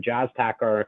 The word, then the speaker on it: Jas Takhar: name and last name jaztacker um it's pronounced like the music but spelt differently it's j-a-s last name